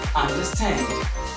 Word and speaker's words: understand: you're pronouncing these words make sure that your voice or the speaker's voice will go longer louder example number one understand understand do not teach